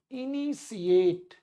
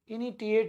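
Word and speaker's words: initiate: प्रारंभ करना, उसको हम लोग बोलेंगे इनिशिएट, इनिटिएट नहीं, इनिशिएट या स्टार्ट, ठीक है।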